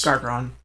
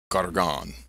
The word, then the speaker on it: Gargron: Gargron. Gargon.